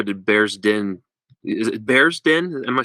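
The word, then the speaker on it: Bearsden: Is it Bear's Den? Am I saying it right? Yeah, I'm sure it's Bear's Den was called.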